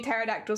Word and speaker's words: pterodactyl: saying paroda Al but I know that it is meant to be pterodactyl silent P but what if it